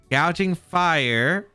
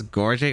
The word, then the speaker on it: Gouging Fire: I didn't know that I was pronouncing it wrong. I thought it was Gorging. I didn't really think gouging was actually an actual word.